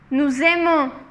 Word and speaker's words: nous aimons: Ici, on relie les mots ensemble et c'est comme si on disait un Z. Un Z. C'est comme si on disait le Z.